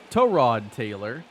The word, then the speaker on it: Tyrod Taylor: I remember when the article came out about, you know, Tyrod Taylor and how his name was supposed to be pronounced Tyrod Taylor.